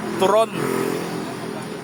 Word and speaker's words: turon: Turon turon. Dapat tama yung pronunciation niyo.